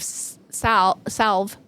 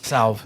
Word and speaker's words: salve: And he came up with a kind of salve, S-A-L-V. Yeah, I always mispronounce that. Salve, yeah.